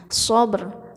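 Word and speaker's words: صبر: Sabr, ada r-nya sedikit.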